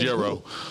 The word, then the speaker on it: gyro: I think this actually pronounced gyro. Yeah, heroes are good. But I just call them gyros because everybody else calls them gyros.